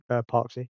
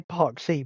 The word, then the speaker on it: Parksy: Parksy. Um, I say Park Se, but it's Parks.